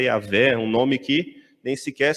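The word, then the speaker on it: Yahweh: língua hebraica se chama Yahé. Nós falamos Jeová, né, mas na língua hebraica é Yahé, um nome que nem sequer se podia pronunciar.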